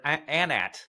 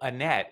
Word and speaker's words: Anat: spell it right yeah so Annette is different um but anat is spelled a n